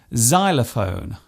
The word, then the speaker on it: xylophone: It often starts a word by being pronounced as Z, such as in xylophone and xenophobia. This particular use stems from the language of the ancient Greeks.